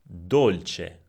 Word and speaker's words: dolce: The vowel O could be open, olio, olio, or closed, dolce, dolce.